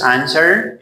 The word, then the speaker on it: answer: This is answer. You don't say answer. No W, okay? Because it is silent.